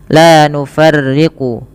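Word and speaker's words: لَا نُفَرِّقُ: Kemudian la nufarriqu baina ahadim minhu, pada lafal la nufarriqu yang dimana la nufarriqu yang ra-nya itu dibaca dengan tipis ketika ri, la nufarriqu.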